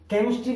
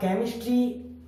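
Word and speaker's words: chemistry: आता है वहां पर केमिस्ट्री भी होता है, सी एच। अब केमिस्ट्री, technology, school, scheme, stomach, mechanic, अब इन सभी में सी के बाद एच आया है, इसलिए वहां पर एच साइलेंट है।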